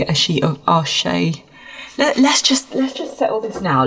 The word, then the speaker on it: Arches: If we look at, say, a sheet of Arche, let's just settle this now. Let's look at how you pronounce. Des Arches. No, you're lying to me. I know. Here we go. Right, got it. Arches.